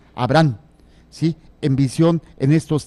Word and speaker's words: Abraham: Cómo se escribe ahí Abraham no está con ha intermedia sino como si fuera abran de abrir la puerta nada más que con acento abran Abraham Sí en visión en